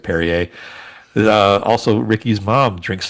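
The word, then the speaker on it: Perrier: Uh yeah, several uh France inspired dishes including French fries, French dressing in uh Peru, which she she mistakenly mispronounces as Peru instead of Perier.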